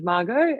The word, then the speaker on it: Margot: So my name's Margot, it's silent T, but I don't mind how it's pronounced.